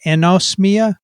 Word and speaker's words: anosmia: Anosmia?